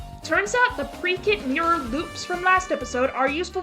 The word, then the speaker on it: Loupe: Turns out the pre-kit mirror loops from last episode are useful for more than just that flying spectrum finisher attack. Yeah, it turns out the E in loop is silent.